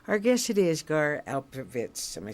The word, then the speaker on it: Alperovitz: from Santa Fe our guess it is gar alperovitz am I saying it right you have your